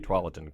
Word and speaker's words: Tualatin: You rose through the ranks to become fire chief in Tualatin Valley. Did I pronounce that correctly? Tualatin.